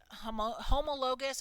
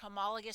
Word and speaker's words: homologous: And the first one is pronounced homologous or homologous structures.